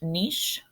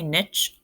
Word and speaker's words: niche: term you may not have heard before it's pronounced niche some people say niche I'm fine with you saying either so an